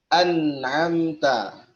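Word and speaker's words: أَنْعَمْتَ: Jadi bacanya an'amta. An'amta, ya, nun mati ketemu huruf ain, huruf halq.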